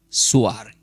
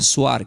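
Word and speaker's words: Zoar: Por eso fue llamado el nombre de la ciudad Suar. Entonces, ¿qué significa el nombre de esa ciudad Swar que se escribe?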